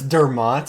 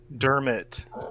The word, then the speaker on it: Dermot: Is it Dermo or Dermot? Dermot.